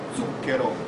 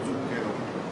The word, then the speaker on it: zucchero: corretta in italiano è zucchero, non zucchero. Voi probabilmente dite zucchero pensando sia corretto, la pronuncia corretta è zucchero.